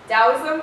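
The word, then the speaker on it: Taoism: play quite a bit dosm it's it's spelled with a t but it is pronounced with a d weirdest thing ever I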